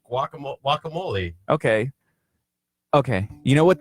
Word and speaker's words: guacamole: we're gonna need to work on your your pronunciation of that wakka moly walk one that way you get you walk